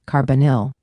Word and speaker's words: carbonyl: Now, we get to the most important family in this lesson, the carbonyl, pronounced carbonyl.